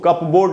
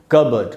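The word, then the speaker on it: cupboard: कबर्ड, इसमें P silent है, इसलिए इसको कप बोर्ड नहीं पढ़ के हम पढ़ेंगे कबर्ड।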